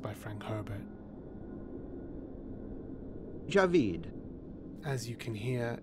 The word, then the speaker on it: Javid: pronounced by Frank Herbert Javeed as you can hear it is not Javid it's Javeed Javeed some pronounce the